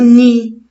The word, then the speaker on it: nid: et bravo ni mais la lettre d à la fin je la prononce pas c'est une lettre muette c'est le mot ni le nid de l'oiseau